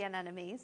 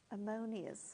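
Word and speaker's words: anemones: can pronounce it the an enemies there we go um I always want to say ammonia ammonia but then that's that is not what it is when I read it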